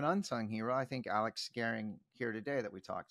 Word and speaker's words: Gehring: uninitiated this is Alex Garing am I pronouncing Garing right yeah okay um I've known you